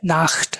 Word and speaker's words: Nacht: তখন আপনি বলতে পারেন যে গুটে নাখট। নাখট মানে হচ্ছে রাত, তা NACHT, নাখট। এগুলার উচ্চারণ কিরকম হবে আমরা ক্লাসে অডিও থাকবে, আমরা দেখব।